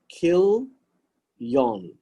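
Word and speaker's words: Chilion: is kill the young you can pronounce it as kill yon right kill me on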